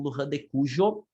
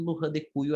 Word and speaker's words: Luján de Cuyo: como Luján de Cuyo, ou vocês podem ouvir como Luján de Cuyo, certo? Aí depende qual é a cultura lá que está, ou a área da onde vem a pessoa. As duas pronúncias vão ouvir, tá? Normalmente Luján de Cuyo é o mais comum, assim como Mendoza é